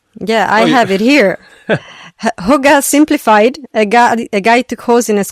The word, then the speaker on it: hygge: I think it's hygge. Hygge, yeah. Hygge is how you pronounce it.